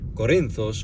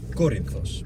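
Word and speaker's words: Κόρινθος: But then some of the words, Corinthos. You don't say Corinthos or Corinthos, you absolutely have to say Corinthos.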